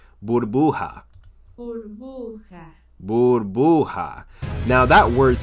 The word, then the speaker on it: burbuja: Burbuja. Burbuja. Burbuja. Burbuja. Now that word sounds a little bit familiar, and I'll tell you why it sounds familiar. Burbuja rhymes with bruja.